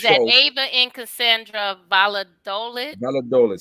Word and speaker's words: Valladolid: Valladolid, say it right. Yes. Valladolid. Hey, I said it right.